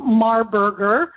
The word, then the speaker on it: Marburger: And by the way, my guest today is Marburger. I pronounced that properly, didn't I not?